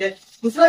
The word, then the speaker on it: हिंदू: पार करके आया था, उसको तकलीफ हुआ सिंधु बोलने में, एस साइलेंट कर दिया। ठीक है। ठीक है। तो पर्शियन एम्पायर था, एस साइलेंट कर दिया तो हिंदू बोल दिया जी।